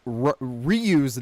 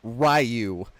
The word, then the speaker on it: Ryu: so and um also they pronounce ryu's name rayu I don't know why they couldn't say it correctly no no and Camy